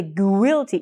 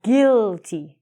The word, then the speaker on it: guilty: We don't say guilty. You are guilty of bad spelling, Ronnie. We say guilty. So it's like we just take the U out.